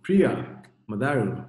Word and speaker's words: Priya Matharu: So, Priya Matharu. Yes. Yes. Am I pronouncing that correctly?